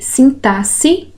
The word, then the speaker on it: sintaxe: De novo, resposta aqui, a letra B está errada, porque sintaxe tem som de S, né? O fonema S, e nessa outra palavrinha, o X, o fonema que ele expressa é o som de Z, inexorável.